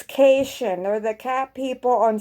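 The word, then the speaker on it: Caitian: called no she's not a citizen it's not pronounced sayatian i keep pronouncing it sayatian it's keishan or the cat people on star trek and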